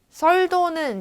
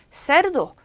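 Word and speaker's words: cerdo: 그리고 세르도 여기 중간에 R 들어가가지고 이제 우리가 어떻게 자꾸 읽냐면 썰도는 이제 영어 시간에 해야 되고 세르도 요렇게 소리가 나야 되고요.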